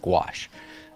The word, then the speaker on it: gouache: want to know it's it is pronounced gouache like squash all right um so